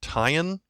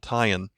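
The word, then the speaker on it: tiyin: Sound with it called tie-in so it's like t-i-y-i-n is how you would spell that in English so the N with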